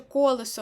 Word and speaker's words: колесо: голові поєднались бо Наприклад якщо ви запам'ятаєте що колесо у нас має наголос на першому складі ви пам'ятаєте що з